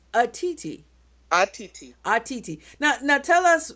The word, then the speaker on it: Otiti: Now, it's spelled Otiti, right? Correct, But it's correct. pronounced Atiti.